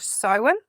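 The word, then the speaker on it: Samhain: It's called sin. And you spell that s a m h a i n.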